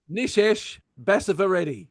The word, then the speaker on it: Nishesh Basavareddy: Nishesh Basavareddy.